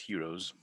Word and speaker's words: Heron: It's spelled Heron's formula, but my old professor said it was pronounced heroes. I never checked it, but I believed him. Hero's formula.